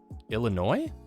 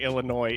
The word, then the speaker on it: Illinois: draft we always say Illinois if that's something we're gonna play classic and I like to pronounce the S because I think it upsets people Illinois Illinois for sure there's no